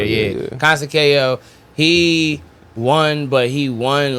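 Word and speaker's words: Conceição: Consekio? Yes. Consekio? Yeah. Yes. Well, let's just that is how you say his name right there. Yeah. Consekio.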